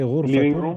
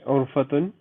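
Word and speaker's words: غرفة: Urfatun. Living room. Ghain. Ghurfatun. Urfatun. Not urfatun. Not ayn. Ghain. Okay. Again, how do I pronounce urfatun? Brother Alam Gheer. غرفتun. Ahsant. You heard ghain. Like you gargling.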